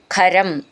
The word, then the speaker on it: ഖരം: ഇഷ്ട എന്ന് മൃദുവായിട്ട് പറയണം ഖരം അഭിപതിതം ഖരം ഖ എന്നുള്ള അക്ഷരം നന്നായിട്ട് ഊന്നി പറയണം അഭിപതിതം എന്നുള്ളതിന്റെ ഭി എന്നും